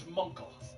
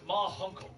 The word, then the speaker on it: Ma Hunkle: her that it was Munkle. The Guardian suddenly appears, and around the corner, the aging members of the Justice Society of America step into view. It's pronounced Ma Hunkle.